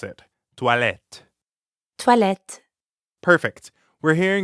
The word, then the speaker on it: toilette: Toilette. Toilette. Perfect. We're hearing the same ah sound that we hear in croissant, or at the end of bonsoir, croix, soir, toi, toilette, Toi.